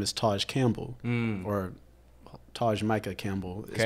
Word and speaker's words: Campbell: I would say T-A-J or T-A-J for Taj, and then Campbell like the soup.